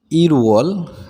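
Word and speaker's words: 일월: দেখেন আমি একটু উচ্চারণ করে দেওয়ার চেষ্টা করছি। ইরওয়াল মানে 1 মাস অথবা জানুয়ারি, ইওয়াল 2 মাস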